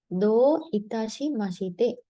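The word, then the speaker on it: どういたしまして: අරිගතෝ ගොසයිමස් වල reply එක තමයි දෝ ඉතාෂි මෂිතේ. දෝ ඉතාෂි මෂිතේ. දැන් මෙතනත් long vowel එකක් තියෙන්නේ දෝ කියලා. right?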